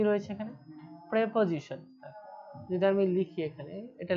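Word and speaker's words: preposition: প্রেপজিশন। যদি আমি লিখি এখানে এটা লিখলে বোঝা যাবে পজিশন। তো এখানে তোমরা দেখো যদি আমরা সেপারেট উচ্চারণ করি এখানে উচ্চারণ কি আসে? প্রি পজিশন।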